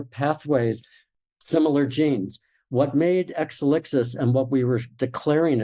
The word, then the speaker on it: Exelixis: finally came up with exelixis or as the Greeks would pronounce it exelixis exelixis means evolution in